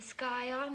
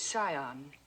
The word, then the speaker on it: scion: a yacht and the sky on of a prominent family the word is Scion the sea is silent yes well he looked